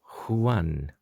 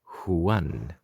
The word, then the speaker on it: Juan: And in this case, letter J is always pronounced H.